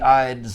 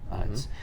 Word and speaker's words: Ides: And beware the Ides of October, because today, October 15th, is the Ides of October. Because everyone thinks there's only one Ides, but there's 12 Ides. Each month has its own Ides.